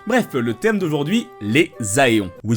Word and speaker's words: Aéon: Bref, le thème d'aujourd'hui, les Aéons. Oui, je prononce ça Aéon et pas Éon, car je sais que le mot français est Éon.